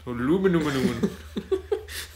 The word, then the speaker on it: aluminum: made of aluminum aluminium aluminum yay pronunciation apparently it's I think it's spelled differently as well I think that's why the Americans say yeah it is spelled